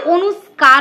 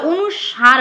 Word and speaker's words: অনুস্বার: হচ্ছে তালব্যস আমরা কি বলি অনুস্কার বলি বা অনুস্বার বলি কথাটা সার নয় কথাটা হচ্ছে অনুস্বর তো এই যে উচ্চারণগুলো